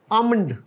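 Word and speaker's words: almond: अगला जो लज है दिस आमंड क्या होता है आमंड बादाम और यह जो है इसमें एक लेटर साइलेंट है व है ए अना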